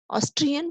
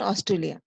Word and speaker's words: Austria: the things believes australia it is not australia it is austria austria in the europe in the europe the austrian named one country is